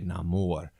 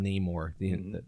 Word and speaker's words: Namor: call me Namor and he pronounces it like that Latin type of way no more and apparently everyone in wakanda calls him nemour through the whole movie and it's just like